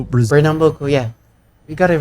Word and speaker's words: Pernambuco: So, meet Monique Because Veiros Fraga, a 27-year-old content creator from I mean, he pronounced it pretty well, the Fraga. Pretty well. greater Recife area in Pernambuco, Brazil. Pernambuco, yeah.